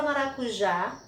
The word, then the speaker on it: maracujá: então nós tivemos aqui maracujá então observando que a última né é uma palavra polissílaba com 4 sílabas e a última sílaba é a tônica então a palavra maracujá a última sílaba e